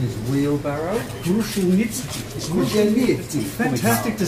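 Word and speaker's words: Kruszelnicki: Karl, who's Kru-shell-nit-ski. Although the proper Australian pronunciation is wheelbarrow. Kru-shell-nit-ski.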